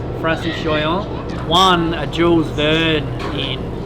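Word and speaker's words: Francis Joyon: which is a 97 foot foiling traran that Francis Joon am I pronouncing that correctly yeah correct Francis Joon won a Jules ver in uh in a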